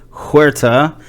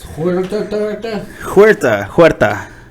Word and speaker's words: Huerta: the rolling R thing, I told somebody to just try to say a D sound, like Huerta. Like you just try to do a D.